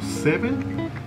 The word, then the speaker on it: Se7en: Esta es una de esas películas que se escribe raro, porque se lee como Seven, pero se escribe con un 7 en medio en lugar de la V.